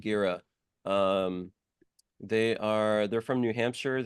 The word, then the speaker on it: Girih: Gira, is that how you pronounce it? I think they pronounce it Gira.